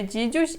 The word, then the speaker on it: dzidziuś: E esta palavra, a segunda aqui, não tem a letrinha A. Então, como a gente pronuncia esta palavra? Dzidziuś, dzidziuś.